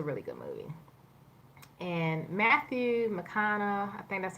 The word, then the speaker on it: McConaughey: it was a really good movie and Matthew McConaughey that's how you pronounce his name he was a man character